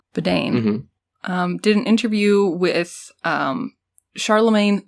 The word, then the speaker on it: Biden: So Joe Biden, pronounced like bidet, but with an N, Biden, did an interview with